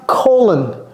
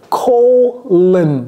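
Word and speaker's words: colon: Prononcez ça. Colen. Colen. J'ai pas dit long.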